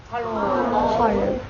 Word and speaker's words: Hallo: h h and then in German it's Hol H Hol like the like um the tree is hollow and in farsy it's